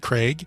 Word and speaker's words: Craig: pronouncing charlize theron from craig i have a request can you and the rest of america please pronounce craig properly it is craig not craig thank you the rest